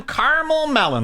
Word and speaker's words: Carmel Melin: Hi, I'm Carmel Melin, like Simon Melons.